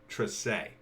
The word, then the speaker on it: Trese: the kind words about tracee and yes it's pronounced trisay i i'm not even